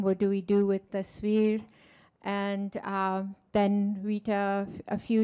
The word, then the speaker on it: Tasveer: I want to make sure I'm a little bit on a mission about pronouncing Tasveer. So if we could all try it out. Tasveer, Veer, Tasveer, Tasveer, Tasveer, Tasveer, Tasveer.